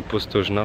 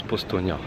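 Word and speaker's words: Postojna: suis parti à postaux ça s'écrit postogena pour nous et mais ça se prononce postnia donc les caves de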